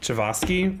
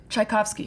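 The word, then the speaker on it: Tchaikovsky: not is he not um anyways because you pronounce this chiosi right the famous composer chaikovsky chaikovsky thank you uh so Chaos's gay past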